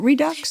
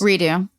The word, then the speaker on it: Redux: Is it Redux? Redo. Oh, is that how you spell redo? Yeah. It's French.